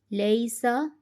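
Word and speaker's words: لَيْسَ: Lam ya zabar lay, sin zabar sa, laysa. When there is zabar before ya sakin, it becomes ya leen. Pronounce the letter of leen gently in Arabic accent without any elongation and jerk.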